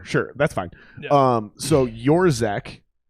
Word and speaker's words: Yourczek: Yourczek. Yours. Oh, it's Yourczek. Yeah, it's Yourczek. It looks my like God. it looks like Yourczek. Whenever I say the C is silent, I'm like the C is silent.